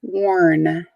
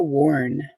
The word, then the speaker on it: warn: well do you know warn worn is a verb it's an action how old do you know it one two or three warn so spell spelled w-a-r-n but it's pronounced like worn like something that you